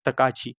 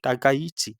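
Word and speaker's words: Takaichi: Who recently became the first female Prime Minister of Japan, जिनका नाम है सैनी तकाची। ठीक है, टाकाइची, प्रोनाउंसिएशन आप प्लीज अपने हिसाब से पढ़ लीजिए।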